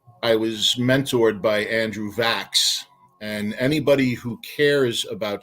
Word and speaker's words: Vachss: I had the greatest fortune of my life in that I was mentored by Andrew Vax.